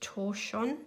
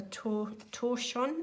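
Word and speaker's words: tortillion: I think it's pronounced Torchon. T O R T I L I O N. So that looks like a French word. And I think it's something like a torschon is how you pronounce it.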